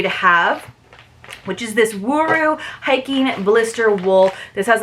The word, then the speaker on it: Wuru: It says, remember to roll the R in Ru, so Wuru, Wuru.